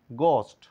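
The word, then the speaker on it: ghost: এর কোন সাউন্ড নাই এটা ঘোস্ট বলে থাকলেও এর সঠিক উচ্চারণ করবো আমরা গোস্ট ঘোস্ট এখানে মানে এস এর কোন সাউন্ড নাই তাহলে এস সাইলেন্ট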